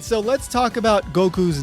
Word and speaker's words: Goku: you should pronounce it Goku or something like that. And well, that's still wrong because like I said, you don't round that first go part and you don't round the second part either.